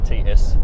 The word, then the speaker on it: Tscharke: Spell that for us. Tscharke. Oh, slowly. Yeah, Tscharke.